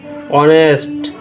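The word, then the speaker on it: honest: আর দেখতে পাচ্ছি শব্দের প্রথম অক্ষর এইচ আগেও ছিল, এখনো আছে, কিন্তু উচ্চারণটা হচ্ছে অনার, অনেস্ট, আওয়ার। প্রত্যেকটা উচ্চারণ হচ্ছে ওর মতো।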